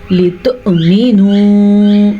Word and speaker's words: لتؤمنوا: واو کے اوپر پھر سے حمزہ ہے. الحمزۃ بصورت الواوی, اس کو ہم پڑھیں گے لتؤمنوا. اب اس واو اور اس واو میں فرق یہ واو حمزہ کے بغیر ہے اس لیے یہ واو مدہ ہے, جبکہ یہ واو حمزہ کے ساتھ ہے تو یہ حمزہ ہی ہے, واو نہیں ہے.